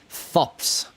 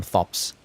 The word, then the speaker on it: Thops: mean things about thop thops apparently the H is silent but I'm still going to call him thops but the geeses well